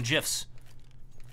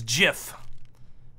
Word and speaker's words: GIF: Choose the internet users choose GIF. I'm aware that the proper English way to say the word is GIF. However, the creator of it has said it should be pronounced GIF.